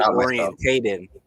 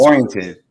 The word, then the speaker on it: oriented: I think it's supposed to be orientated, but it's oriented. Oriented. But I say it That's wrong. how you say it. No, you said it right. Oriented. Well, I always say orientated. Okay. That's the wrong way.